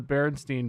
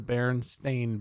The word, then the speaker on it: Berenstain: the spelling oh yeah i always thought it was the berenstein bears and it's the berenstain bears yeah berenstain bears michael